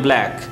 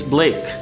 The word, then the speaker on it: Blake: First of all, ye black nahi hai, ye Blake hai. Mostly the people pronounce William Black. It's not Black, it's Blake.